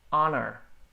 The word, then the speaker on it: honor: Comfortable, honra, o H ali é mudo. Honor.